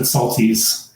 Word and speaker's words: Soltis: my parents always pronounced it Saltese. But I'm sure Saltese. That's not the right way.